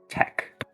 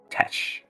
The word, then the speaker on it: tech: It's tech, not Tesh.